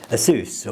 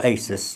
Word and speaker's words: Asus: It's kind of, well, it's actually it was on their own make, but this is by Asus or Asus, depending how you like to pronounce it.